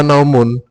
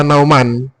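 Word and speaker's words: نَوْمٌ: Sinatun wala naumun. Tidak boleh dibaca sinatan wala nauman.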